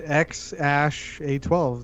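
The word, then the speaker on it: X Æ A-12: i guess i guess it's just x ash a12 that's how you say it yeah it's so weird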